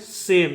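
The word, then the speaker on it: same: उसी प्रकार से ए एस का उच्चारण होगा स ए का उच्चारण होगा ए एम का उच्चारण होगा म इसको पढ़ेंगे सेम इसको पढ़ेंगे सेम और ई का कोई उच्चारण नहीं होगा ठीक है तो जो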